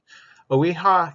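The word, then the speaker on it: OEHHA: environmental health hazard assessment oiha oe that's how we pronounce it owiha is the smallest part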